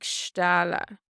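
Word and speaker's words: stealladh: Bhí sé ag stála. Bhí sé ag stála. It was bucketing down. The end of stála here is silent.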